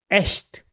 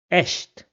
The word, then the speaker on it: echt: In all the other cases, it will be pronounced as sh.